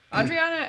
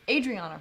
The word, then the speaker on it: Adriana: think he owns it adriana agrees adrian gosh it's adriana right i do this every